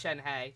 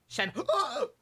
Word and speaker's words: Shenhe: I could have sworn in one of the earlier things talking about her, they said it's Shenhe, just exactly how it's spelled, but according to the demos, you have to say it like you're getting punched in the stomach halfway through saying her name.